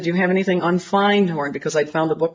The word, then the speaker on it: Findhorn: And I said, do you have anything on Findhorn? Because I'd found a book called The Magic of Findhorn. And he corrected my pronunciation. He said, you mean Findhorn?